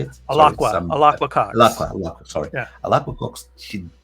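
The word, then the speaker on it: Alaqua Cox: Alacua, Alacua Cox.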